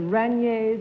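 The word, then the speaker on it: Rainiers: The Raniers, is that how you pronounce it?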